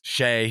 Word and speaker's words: Shea: here uh uh brady is it sketch it's shay shea that's right that's right yeah he was